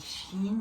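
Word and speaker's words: شين: On dit Shin, ici on lit chat. Et ça se prononce comme en français, comme che.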